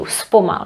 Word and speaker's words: zpomal: Or even actually the speedboard will tell you zpomal if you go over 50 in a village, for example. Zpomal. But remember, it's pronounced with s.